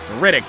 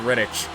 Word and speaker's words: Rittich: I just realized I was mispronouncing his name. Riddick, not Rittich.